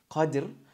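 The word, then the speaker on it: قدر: The first, so we have understanding, is Qadr with a sukoon on the dal. That means you join qaf and dal and dhara, Qadr.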